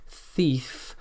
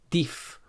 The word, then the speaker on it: thief: The most common mispronunciation here is to pronounce this sound as a d or a t, like ting or ding for thing, bat or bad for bath, or dif or tief for thief.